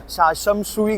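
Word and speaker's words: 尖沙咀: जैसे सुनामी में T silent होता है वैसे ही शमशाशुई बोलते हैं इसको।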